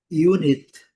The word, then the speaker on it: unit: A segunda, unit. Unit, o u com son de you. E a segunda sílaba mais fraca, n unit.